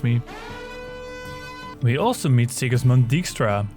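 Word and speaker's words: Dijkstra: we also meet sigismund dykstra whose name should actually be pronounced extra if you want to get technical and colonial about it he is a spymaster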